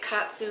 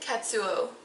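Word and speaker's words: Kazuo: the best book, Never Let Me Go by Katsu Ishiguro, which I know I'm not pronouncing that last name correctly. It's the first name you don't say right. Is it? Katsuo.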